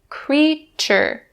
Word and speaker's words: creature: creature not correct it's actually the voiceless ch sound so we say creature creature so say it